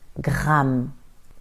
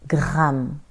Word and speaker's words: gramme: La Tour Eiffel, le Louvre, les Champs-Élysées, Then we have a stressed R. It is much stronger, like in gramme, gramme. You can really hear it, right?